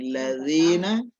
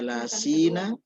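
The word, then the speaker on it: الذين: Ya, syiratal ladzina, jadi ladzina, ya, jangan dibaca lasina. Nah, kalau orang ada yang baca lasina itu sama dengan masyarakat biasa yang tidak pondok. Ya, syiratal ladzina.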